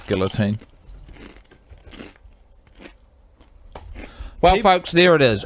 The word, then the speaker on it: guillotine: I'm a big fan of guillotine as a pronunciation. That's how we were taught as um Kiwis. But probably the correct way is guillotine, right? Cuz it's the Is that the French? I the French word.